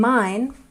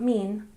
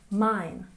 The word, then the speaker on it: mine: And mine, not mean, mine, mine. And broken, we stress the first syllable, broken, broken.